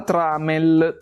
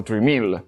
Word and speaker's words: Tramiel: Non è un errore, manca proprio la i per evitare lo sbaglio di pronuncia, perché in inglese lo chiamano Trimal e anche noi l'abbiamo un po' italianizzato in tramel, ma in realtà è tipo tramel o qualcosa di simile come pronuncia.